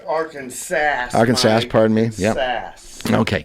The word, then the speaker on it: Arkansas: Pronounced Arkansas.